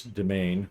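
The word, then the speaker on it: demesne: I also looked up it is demain is how you pronounce it sure related to domain but um all right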